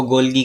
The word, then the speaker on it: Golgi: बहरहाल इसके प्रोनाउंसिएशन कुछ भी हो सकती है, आप इसको गोल्गी कहें या गोल्जी कहें। बहरहाल जो इसकी अच्छी प्रोनाउंसिएशन है वो तो गोल्जी ही बनती है।